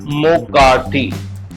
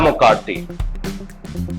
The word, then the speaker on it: McCarthy: character is Ella McCarthy the pronunciation of McCarthy is Muh-Kar-Thee Ella Muh-Kar-Thee apparently she is the